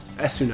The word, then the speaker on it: Esuna: ahead of time and get an Esuna, I think that's how it's pronounced. That's how they said in Final Fantasy IV DS.